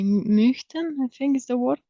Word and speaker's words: möchten: Möchten. So it's like O and Y, something between O and Y.